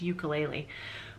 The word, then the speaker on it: ukulele: for this fruit and I'm gonna say it how I say it how I've always said it which is ukulele which is how everybody around me here in Canada says it however and somebody from Hawaii tells you how to pronounce it properly I think that's kind of special so I think Lisa says that it's ku Lele oh cool a lei